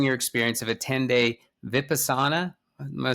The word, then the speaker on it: Vipassana: But I know that you hosted an episode sharing your experience of a 10-day Vipassana, am I saying that right?